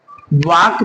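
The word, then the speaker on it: walk: यदि के से पहले एल हो तो एल लेटर साइलेंट हो जाएगा।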